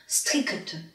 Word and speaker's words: strict: 音的，发 kt 的音啊。strict， ça va？